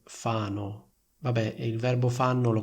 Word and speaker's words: Fano: E l'altra frase potrebbe essere vive a Fano. Sentite la differenza tra queste due frasi? Molti fanno questo errore. Vive a Fano. Fanno, Fano.